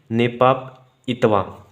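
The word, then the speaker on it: नेपीडॉ: अगर मैं इसकी राजधानी कैपिटल बात करूं, कैपिटल है इसकी नेपाप इतवा। इंपॉर्टेंट है, प्रोनाउंसिएशन देख लीजिएगा आप।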